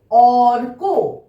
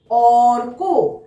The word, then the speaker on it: অর্ক: অর্ক। অর্ক। আমরা ভাঙলে কি পাবো দেখো? প্রথমে অ, তারপর এই রেফের জন্য একটা র, আর তার সঙ্গে ক, তাহলে কি হলো? অর্ক।